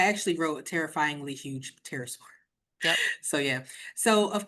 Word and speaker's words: pterosaur: But that is a very huge pterosaur, which like pterodactyl, pterosaur. There is a silent P in the beginning of that, It's just like in a case big you want to scary spell bird, it.